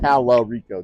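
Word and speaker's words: Talarico: and is it's pronounced Tal Rico. There's an A in there.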